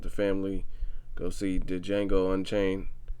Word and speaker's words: Django: Go see the Django Unchained, or should I say Django? The D is silent.